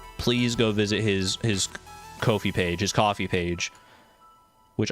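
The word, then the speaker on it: Ko-fi: Support Kai Kid, the mod developer on Kofi. I don't know why I want to say Kofi. It's defin It definitely should just be coffee, but All right.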